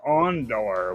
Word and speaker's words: Ondor: His nephew, Doc Ondor, which rhymes with Andor.